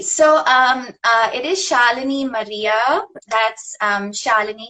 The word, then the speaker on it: Shalini: um uh it is shalini maria that's um charlene it's pronounced like melanie with like a shah that's how i say